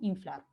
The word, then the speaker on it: inflar: A pesar de que yo le escribo con N, a la hora de pronunciar, se pronuncia de esta manera, ¿no? Inflar.